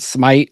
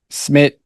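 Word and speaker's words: Szmyt: I've heard Smite. I've heard Smid. Schmidt. I think it's Schmidt.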